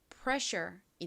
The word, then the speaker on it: pressure: 뒷부분 SS는 제가 전에 알려 드린 적이 있는 덩어리 철자인데요. 얘는 덩어리로 SH 소리가 납니다. Sure. 그래서이 단어를 읽어 보면 pressure이 됩니다.